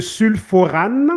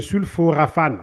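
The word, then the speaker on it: sulforaphane: Ça, c'est le sulforane, OK? Le sulforane que l'on a dans les jeunes pousses de brocoli, pardon. Donc, le sulforane, attends, est-ce que je prononce ça bien? Le sulforafane, ok, désolé.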